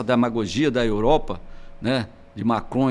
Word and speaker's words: Macron: da Europa, né, de Macron e companhia limitada, de querer levar lá a madeira nossa para fazer os pisos. Cuidado com a pronúncia, porque você falou Macron, quis falar Macron, mas saiu quase maconha.